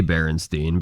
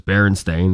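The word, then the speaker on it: Berenstain: I used to say Baronstein, but I feel like back then everybody said Baronstein. I feel like back then everybody just like mass mispronounced it. Yeah. Well, I mean, I'm not like, oh, Mandela effect. I'm just kind of like, oh, wow. I'm stupid for not realizing it was Baron Stain this whole time.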